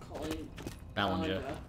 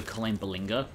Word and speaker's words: Colleen Ballinger: About this thing that Miranda sings, Colin Ballinger. Yeah. See, if you hadn't told me I pronounced her name, I probably would have called her Colleen Ballinger.